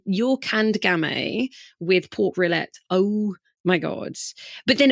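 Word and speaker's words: rillettes: I don't know if I can even pronounce it. Pork rillette.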